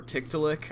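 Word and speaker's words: Tiktaalik: people are familiar with tiktalik or tick to lick I believe is how it's supposed to be pronounced it's a um it's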